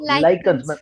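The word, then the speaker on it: lichens: Guys इसका pronunciation सुन लो. लाइकन्स.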